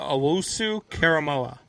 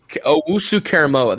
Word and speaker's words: Owusu-Koramoah: Yeah, so it's Jeremiah Owusu-Koramoah. So, okay, Owusu-Koramoah.